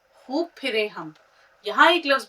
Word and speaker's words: खूब: अब खूब उच्चारण सबसे पहले ध्यान रखना है। हमने सोचा खूब फिरे खूब फिरे तो ख प्लस वाव प्लस बे।